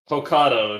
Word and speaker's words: Hokkaido: I am not actually how you pronounce that region. Talking Hokkaido, about I believe. Hokkaido. Hokkaido? It's Hokkaido.